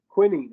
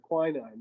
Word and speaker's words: quinine: the last one is uh quinine or quinine depending on the pronunciation of it anyhow all right so